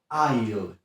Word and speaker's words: aisle: Kolejne słowo, również bardzo często źle wymawiane, to słówko aisle. Aisle. Powtórz. Super. Aisle. Czyli tak jak słyszysz, S nie wymawiamy.